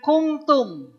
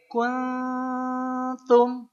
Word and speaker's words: kuntum: Bacanya bukan kungtum. Karena kalau kungtum jadi sekungtum mawar merah. Jadi sekungtum ya nanti ya. Bukan kung tapi kun sama dekat ke n kuntum.